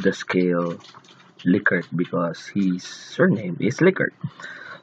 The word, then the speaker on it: Likert: on the Likert scale by the way it's pronounced Likert because the name the author of the scale is rensis likert he himself called the scale liquor because he's surname is liquor so anyway it